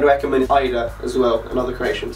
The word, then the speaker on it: Haider: But anyway, for the first piece we have this long sleeve Bordeaux t-shirt from Haider Ackermann. Haider as well, another correction, supposedly the H is silent.